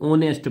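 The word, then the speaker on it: honest: जैसे ये लिखा है ये स्टार्ट का से हो रहा है एच से लेकिन जब इसको पढ़ेंगे किससे पढ़ते हैं ओ से पढ़ते हैं क्या पढ़ते हैं इसको ऑनेस्ट पढ़ते हैं ये एच साइलेंट होता है इसमें ये भी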